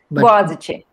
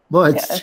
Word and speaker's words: Boğaziçi: I'm sorry, I can't pronounce it properly. Boğaziçi. Boğaziçi.